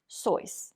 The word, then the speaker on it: Seuss: hat you will know that his name is pronounced dr soyuz that's right dr seuss so who is the grinch well looking at